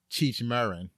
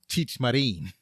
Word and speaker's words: Cheech Marin: We always called him Cheech Marin, but his name is actually pronounced Cheech Marin. So Cheech Marin, he played Short Bartender.